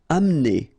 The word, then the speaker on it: amener: Amener. Don't insist on the E here because you don't really pronounce it.